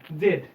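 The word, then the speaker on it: Z: ইউ তারপরে এক্স ওয়াই জেড এই জেড টাকে কিন্তু ইংলিশে এখন আধুনিক যে আমেরিকান এটাকে উচ্চারণ করে জি এর মত করে জি জেন জি মানে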